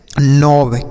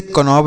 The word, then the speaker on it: knob: अगला सर KNOB, तो इसे हम पढ़ते हैं नॉब। KNOB, नॉब। इसे कनॉब नहीं, नॉब।